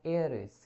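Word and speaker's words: heiress: I understand he इज to marry blank एयरिस। यहाँ पे ह नहीं पढ़ रहे हैं, यहाँ पे ए प्रोनाउंसिएट हो रहा है, एच जो है वो साइलेंट है, एयरिस मतलब वारिस, तो यहाँ पे क्या जाएगा, एन।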